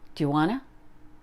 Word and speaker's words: do you wanna: skydiving not me next do you wanna it's almost like Tijuana it works in sentences